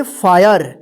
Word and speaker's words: fire: यहां पे देखिए आई का अ उच्चारण हुआ है, देखिए यहां पे FIRM,